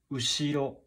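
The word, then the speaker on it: 後ろ: past script atogaki finally we have this pronunciation of ushiro ushiro ushiro this is hiragana so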